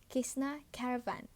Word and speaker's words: Cessna Caravan: Bacanya tuh Cessna Caravan. Gitu. Pokoknya tulisannya tuh CESSNA spasi CARAVAN.